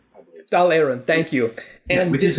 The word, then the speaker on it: Dáil Éireann: wrong, so James, please correct me, but the Dáil Éireann was formed? The Dáil Éireann, I believe. Dáil Éireann, thank you.